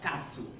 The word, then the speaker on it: castle: In castle, most people will pronounce this as castle. This is not pronounced as castle, but it's pronounced castle because the letter T is silent.